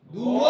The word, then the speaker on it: Duo: Berarti bacanya bu. Apa? Asus ZenBook. Nah. Oke, gue mau ngedit dulu pakai Asus ZenBook 2. Duo.